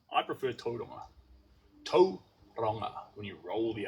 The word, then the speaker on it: Tauranga: Roll the R a little bit if you want to say it right. Well, a lot of people say Tauranga. Tauranga. And you can say that, but it sounds better, or it is correct.